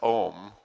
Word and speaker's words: Om: we forgot to say the lord's prayer om pronounced as om then is a sound that invokes a relatively high degree of calibration 740.